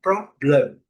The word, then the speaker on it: problem: com som de Então problem. Lembrando, a letra M ao final das palavras tem que ser terminada com a boca fechada.